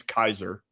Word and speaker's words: Caesar: I think it's pronounced Kazer. It's really pronounc Well, the the the actual Latin pronunciation is Kaiser.